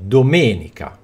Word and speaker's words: domenica: è detta tonica ok Quindi domenica la sillaba è il me la sillaba me mentre le altre sillabe